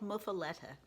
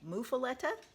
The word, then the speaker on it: Muffuletta: This is called Muffuletta, and some people say Muffuletta, some people say Muffuletta. In Arkansas, I normally hear it Muffuletta, but no matter how you pronounce it, it is a